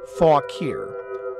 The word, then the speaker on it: Fauquier: William County Fauquier County and that is pronounced fawk here was listed in 1608